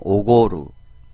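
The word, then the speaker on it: 奢る: 한턱내다 할 때는 오고루 그니까 발음할 때 조심해 줘야 됩니다 오고고고곡 한 턱 레다는 뜻이죠 우리가 어 똑같은 표현으로서 구치소 수라는 표현이 있죠 근데 조심을 해 줘야 되는 것도 오코루 오코코 오코루 아고 해주면 는 우리가 아 화가 나다는 뜻이 되니까 발음 조심해 주셔야 되고요 그래서 또 어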